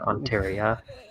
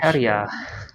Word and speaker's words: Ontario: answered on Wikipedia, like what's the capital of Ontario? Instead of selecting one of the buttons here. Yeah, instead of selecting one of the buttons here, we want to ask Ontario, not Ontario.